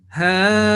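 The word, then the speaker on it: هؤلاء: So the pronunciation will be ha-ulai, or if we stop, ha-ula, landing on hamza, and a very soft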